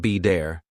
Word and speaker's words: better: For example, water sounds like wader, better sounds like be dare, city sounds like sid-e.